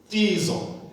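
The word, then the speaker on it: κτίζω: Tizo. And tizo ke usho upronounce ungazuthi lo K akekho.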